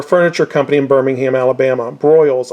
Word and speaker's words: Broyles: Broyles, I believe that's how it's pronounced. B-R-O-Y-L-E-S.